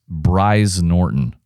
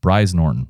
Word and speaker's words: Brize Norton: Uh, it's the Britain's largest Royal Air Force base, Brize Norton. B R I Z. I think you said it rhymes with prize. Bri Norton, we'll go with that.